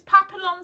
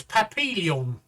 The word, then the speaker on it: Papillon: So it would be pronounced the French way, because people don't realise that about Vietnam, that they were primarily a French-speaking country.